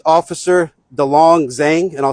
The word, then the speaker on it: Delong Zheng: It's officer Dong Zang and I'll spell it.